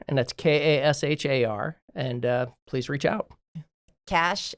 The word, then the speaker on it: Kashar: Last name's pronounced Kashar, and that's Kashar.